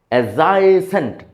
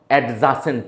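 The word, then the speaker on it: adjacent: আর একটা specific adjective শিখে নেন পার্শ্ববর্তি এডি জেড এ সিই এনটি উচ্চারণ খেয়াল করেন এজাইসেন্ট নট এডজাসেন্ট না এজাইসেন্ট আই রিপিটসেন্ট মানে পারশ্ববর্তি আশা করি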